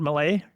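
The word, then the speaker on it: Milei: the Argentinian president yeah is it Malay that's it sorry yeah um he was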